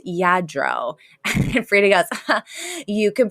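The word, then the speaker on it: Lladró: like you know I do have all this Lardo China that needs dusting and Sylvia's like it's y it's pronounced yadro frea goes you can pronounce it I can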